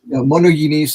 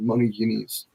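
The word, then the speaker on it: μονογενής: And monogenes is the pronunciation, the modern pronunciation, monogenes. Okay.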